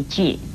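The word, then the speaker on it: 醵: 一个是这样写成的句字，国语注音是鸡玉句，四声句。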